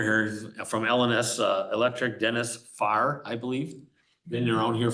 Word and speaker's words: Farrar: Yep, but the A-R is silent. So it's just Farr, not Farrar. No, just No, Farr. it's not like starting a car.